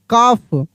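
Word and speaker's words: calf: यहां L silent रहेगा। हाफ। सी ए एल एफ काफ।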